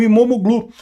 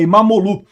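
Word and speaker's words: İmamoğlu: A, aliás, o regime do Erdogan prendeu até o prefeito de Istambul, o Imomoglu. Falei sobre isso, aliás, não se pronuncia o G, né? Então, e é Imamolu, eh eh que é o principal opositor do país.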